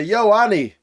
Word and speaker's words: Ioane: He's a really cool guy, but he can't pronounce the name Ioane. It's more like if you saw Arnold Schwarzenegger, and you wanted to say, "Yo, Annie. Yo, yo, Annie." That that's not exactly right, but that's closer than saying like I O N E.